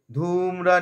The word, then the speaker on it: ধূম্র: প্রথমে ধূম্র, ধয়ের দীর্ঘ আছে, টেনে নেব। ধূম্র নেত্র বাধে, ধূম্র নেত্র, নের পরে একটা তয়ের আঘাত নেব।